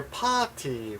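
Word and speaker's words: パーティー: The last word here, party wa doko desu ka? Of course, that's party in Japanese pronunciation. The R is dropped. You don't hear it.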